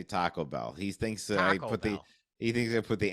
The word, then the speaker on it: Taco Bell: has a problem with the way I say Taco Bell he thinks uh put the he thinks I